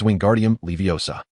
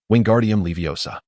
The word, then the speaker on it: Wingardium Leviosa: The incantation for the levitation charm is Wingardium Leviosa. Oh, relax now. The emphasis is on the second word.